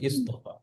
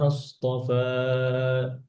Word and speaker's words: اصطفى: জব অথবা জেড থাকে, তাহলে হামজা ওয়াসলকে জেড দিয়ে পড়তে হবে, ইস্তফা। আর পেশ থাকলে পেশ, ওকে, শুধু জবর জেরের জন্য জেড। আর আপনি যদি মিলাইয়া গেছেন, মিলাইয়া পড়লে তখন আবার হামজা ওয়াসল সাইলেন্ট।